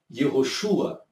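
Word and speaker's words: יהושע: Então você tinha o Yud, você tinha o Re e você tinha o Vav, que as pessoas pronunciavam Yehoshua.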